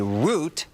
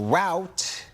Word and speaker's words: route: Many people in the Midwest and East Coast say root, while route is more common in parts of the South and West.